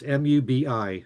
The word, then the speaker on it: Mubi: It's mu bi. Mubby. Mubi. Peter Asher. Did you know? I think it's movie. Movie. I'm pretty sure.